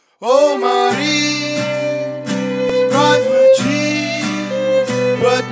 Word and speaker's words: Maryse: Oh, Maryse, bright with cheese, but not with peas, 'cause that's too harsh of a sound. Oh, Maryse, rhymes with Febreze, it's that odor-locking kind of air freshener.